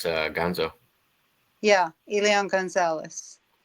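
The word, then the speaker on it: Elián: Perth says, Elian, is that how it's pronounced? Elion, yeah.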